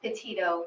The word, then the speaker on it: Petito: Can you pronounce her last name for us? Sure, it's Petito, Petito. Petito, thank you.